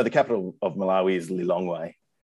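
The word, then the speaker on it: Lilongwe: capital of malawi is li longway how do you how do you say that lee long way long way long correct correct and you're 40 k's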